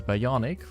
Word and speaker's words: Bionic: His name was instead chosen as Bionic, rhymes with Sonic, and the B is for basketball.